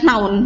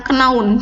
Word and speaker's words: known: Nah, Ketika berubah menjadi verb 3 itu dibacanya noun, bukan kenaun, tapi noun. K-nya hilang.